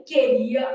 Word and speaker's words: queria: No caso de queria, esse U não é pronunciado.